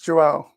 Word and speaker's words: João: It's João.